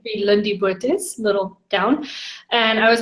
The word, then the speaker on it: Lindie Botes: name is it sis with an Afrikaans pronunciation Lindy bootys little town and I